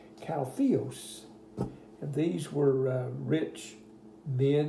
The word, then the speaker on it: caudillos: It looks like it's Caudillos to us, but as the book told you, in Spanish it's pronounced Caltheos.